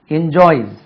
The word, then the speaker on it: enjoys: என்ஜாய் என்ஜாய் என்ஜாய்ஸ் Z. Spelling என்னமோ spelling S தான். என்ஜாய்ஸ் உச்சரிப்பு என்ஜாய்ஸ்.